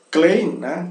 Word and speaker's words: klein: o la ei ei que encontramos na palavra klein klein pequeninho pequeno na se pronuncia ainé então todo o e se pronuncia